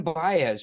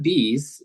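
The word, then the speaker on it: Don Bies: Who's this Don Baez? Wasn't he like one of the creators in the prequels? Don Bees is pronounced.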